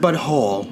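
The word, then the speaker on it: Butthole: South Park Fractured But Whole.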